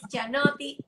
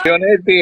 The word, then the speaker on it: Chionetti: y tenemos el privilegio de tener a Cianotti hoy. cuéntanos un Chionetti, poquito, Chionetti o Chionetti.